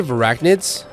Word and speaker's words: Verachnid: They say verachnids like rhyming with arachnid.